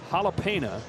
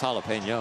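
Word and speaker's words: jalapeño: to ask my question is a jalapena same thing as a jalapeno oh that too did I say it wrong well maybe jalapeno jalapeno yeah yeah I would say it's jalapeno okay yeah or you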